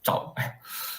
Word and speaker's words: Zhao: So Zhao the title Zhao is basically the English pronunciation for the surname Zhao. So it's also basically my surname, which is Zhao.